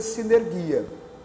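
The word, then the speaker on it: συνεργία: Se escreve sunergia, né? Se escreve sunergia, mas se pronuncia sinergia.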